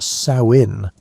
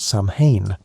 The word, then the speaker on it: Samhain: Samhain was a festival that people pronounced Samhain, like the female pig, not Samhain, which is what most people think.